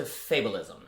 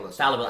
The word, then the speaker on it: fallibilism: Yeah, and it goes into fabulism. Is that correct? Fallibilism. I always say it wrong.